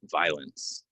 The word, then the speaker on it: violence: violent and violence um really like a silent o here violent violence um I try not